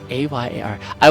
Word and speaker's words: Ayari: A-Y-A-R. I would not have guessed that. So, say it again. Ayari. Almost sounds like there's a Y in the beginning too, doesn't it? Yes, it's yeah. Ayari.